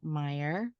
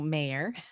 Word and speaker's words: Mayer: First, talking with her podcast co-host, Daniel Meyer. No, Mayer. Mm-hmm. Pronounced it incorrectly.